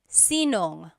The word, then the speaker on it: sinong: If you have sino ang in a question, you might hear sinong. So they put it together.